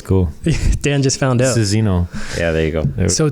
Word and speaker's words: Sozinho: And Tony Sozinho. That's right. You pronounced it correctly.